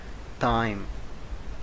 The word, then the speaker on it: thyme: a tablespoon and the the pronunciation of this word time the same uh pronunciation of t i m e time time na ma na hazata